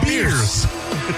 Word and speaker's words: Bears: Bears Avenue, I found out is called Beers.